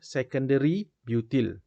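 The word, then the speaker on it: sec-butyl: five secondary butyl lambda this actually the correct pronunciation should be five secondary butyl five secondary butyl two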